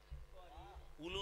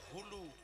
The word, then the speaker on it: হুলু: করে যেটা শব্দটা করলেন এটাকে কি বলে উলু নয় উচ্চারণটা হবে হুলু হ্যাঁ মনে রাখবে মায়েরা